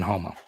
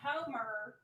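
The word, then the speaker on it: Houma: Some of the nicest people on the planet live in Homa. On the planet. I've never met like an a-hole from Homa. Never. Every single person I've ever. And Jordan still, you know. Yeah. Not Homer.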